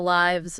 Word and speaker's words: lives: And then there's the lives versus leaves confusion. Ah, yes. Same spelling, but very different pronunciation and meanings. Lives, with a short I sound, is for the verb, like he lives in Brazil.